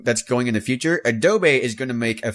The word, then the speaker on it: Adobe: Adobe it's Adobe it's Adobe dude is it Adobe it's Adobe not adob it's ad doy I swear I've heard